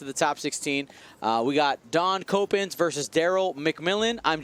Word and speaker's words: Daan: Daan. We'll call him Dan. Dawn, like the night is darkest before the dawn. Like Concord Dawn.